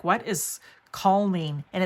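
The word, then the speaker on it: kulning: was like, what is calming? And it's actually pronounced cooling, like cool.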